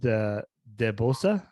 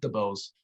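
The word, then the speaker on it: Ariana DeBose: to best supporting actress ariana the debossa as i say yeah they pronounce it the bose yeah i'm not good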